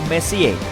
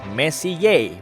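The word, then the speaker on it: Messier: M adalah singkatan dari Messi diucapkan Messi Ye bukan mess yang artinya lebih berantakan Charles messie persisnya adalah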